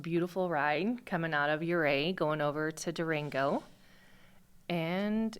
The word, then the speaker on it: Ouray: Ouray. Yeah, no, don't call it that. It's spelled O-U-R-A-Y.